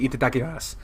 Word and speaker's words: Itadakimasu: Itadakimasu. Itadakimasu. You don't do su. That's not how they say it.